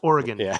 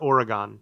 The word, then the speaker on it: Oregon: It's Oregon. It's not Oregon."